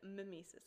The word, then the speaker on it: mimesis: two different literary terms diges and mimesis digesis and mimesis okay by the way that is how they're pronounced i actually bothered to